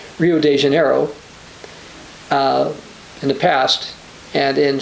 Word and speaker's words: Rio de Janeiro: what it is, but in Portuguese it's actually pronounced Rio de Janeiro, because their first R is pronounced like an H, D can have a J sound, and O's at the end of the word in Portuguese have an U sound, a U sound.